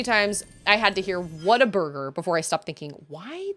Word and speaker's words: Whataburger: I've heard um a lot of people say Whataburger but it is definitely spelled what a burger and in their ads they say what a burger so it's like what a burger but I've